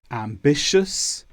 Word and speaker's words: ambitious: The ending TIOUS is pronounced quite differently to how it looks. We normally say shus, ambitious, cautious, infectious.